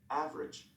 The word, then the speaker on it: average: pronunciation unpronounced vowels part a listen and practice oh immediately after a stressed syllable is sometimes not pronounced average different separate comfortable interesting vegetables okay page pronunciation about silent uh violence and on pronouns 18.